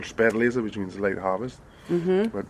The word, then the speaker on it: Spätlese: It's called Spätlese, which means late harvest.